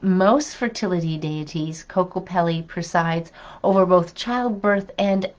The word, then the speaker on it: Kokopelli: It's if I don't pronounce this properly, Kokopelli. Kokopelli, that's Kokopelli.